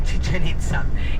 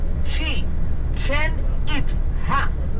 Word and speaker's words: Chichen Itza: And the name is not even Chichanita. Any Mayan territory have the original name because when the Spaniers came here, they changed most of the names because the pronunciation they easier. Okay. The real name of Chicha was she chen it.